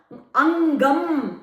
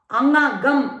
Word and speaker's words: angam: Angam. We say it angam. That ng plus ga. The akshara is pronounced only half. Angam. Angagam. We don't say. Ng is only half sound.